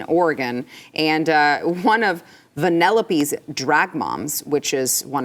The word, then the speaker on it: Vanellope: about yesterday this is I think I was pronouncing the name wrong I I believe it's uh uh Vanellope I mean I don't know what these weird drag names I don't know how to it's Vanellope that's supposed to be very cute